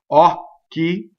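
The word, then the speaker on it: occhi: So here we have ɔcchi. The stress is on the first syllable. The stressed vowel is open.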